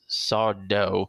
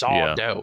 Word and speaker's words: Sardo: The other one I mentioned him before is Sardo, but people would always say, "Hey, Mr. Sardo," and he would say, "No, Mr. Accent on the dough. It's Sardo."